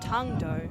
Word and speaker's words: Tung Do: believe it's pronounced tongue dough.